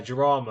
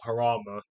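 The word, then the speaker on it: Jarama: something stupid like that um but yeah Jama or harama Jama because all the because British people don't know how to pronounce anything that isn't English does my titts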